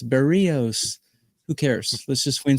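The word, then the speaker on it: Berríos: And I know people in the chat who have nothing better to do are going to say, "You're pronouncing his name wrong. It's Berios.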